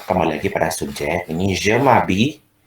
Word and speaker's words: je m'habille: Ini je m'habille. Ini je m'habille ya, kayak ada y-nya, tapi kalau mau dibaca y-nya juga nggak apa-apa, agak susah memang.